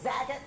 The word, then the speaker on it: Zagat: I never know how to say it. Zagat. That's how we say it in Texas.